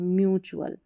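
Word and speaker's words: mutual: जैसे एक्चुअल रिचुअल वर्चुअल अभी म्यूचुअल म्यू पढ़ना है इसको। मुंह नहीं पढ़ना है। म्यूचुअल ठीक है?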